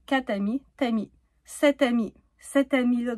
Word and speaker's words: quatre amis: S'il y a quatre amis, on prononce pas le R, donc quat' amis, "tami".